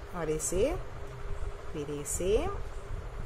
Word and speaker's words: ऐ: इसका उच्चारण होता है ए और इसका उच्चारण होता है ऐ।